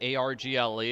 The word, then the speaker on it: Argle: A-R-G-L-E. It's nice and short. That's better than Argle-Fump, because people can't spell it. But people can spell Argle. It's like gargle without the first G.